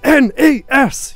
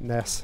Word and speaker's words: NES: Oh yeah, sorry, it's pronounced capitals. N-E-S! You have to shout it like that. Someone complained about me calling it Ness, so I just replied, Ness, Ness, Nessie, Nessie, Nessie, Ness, Ness.